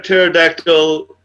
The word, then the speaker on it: pterodactyl: Why can't you hear a pterodactyl use a bathroom? I'm not sure. The P is silent.